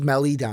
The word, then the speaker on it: Maledon: Memphis Grizzlies taking Theo Maledon. God damn it. Maledon. Don. That's Maledon. That's Melidon.